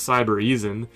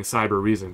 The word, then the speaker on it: Cybereason: to pronounce this because it really says cyber Eason but what I noticed in the video is everybody's saying cyber reason so there's actually an extra R in there when you pronounce it but this is an